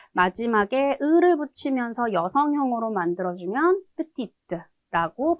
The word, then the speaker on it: petite: 작다, 작은의 의미의 형용사, petit, petit, 마지막 대 발음하지 않고 남성 기본형으로 발음을 하는데 마지막에 을을 붙이면서 여성형으로 만들어주면 petite라고 발음을 하게 되죠.